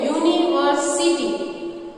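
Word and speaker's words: university: यूनिवर्सिटी की शुरुआत यू से होती है तो यू एक वोवेल है, लेकिन जब हम इसको बोलते हैं यूनिवर्सिटी तो उसका साउंड वोवेल प्रोनाउंस होता है, यानी कि यू, यानी कि वाई, तो हम यूनिवर्सिटी के आगे ए लिखेंगे।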